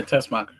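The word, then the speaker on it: Teschmacher: I never know how to pronounce her last name. Yeah, Tessmacher.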